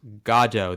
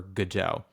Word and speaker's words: Godot: And yes, it is pronounced Gajjo.